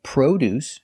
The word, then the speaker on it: produce: Sometimes you say produce using the long O. Produce is another name for fruits and vegetables. And produce, spelled exactly the same, but pronounced differently, is the verb to manufacture products.